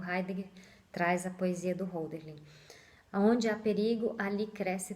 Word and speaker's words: Hölderlin: Eu não sei se eu sei pronunciar muito bem o nome dele, é Hölderlin.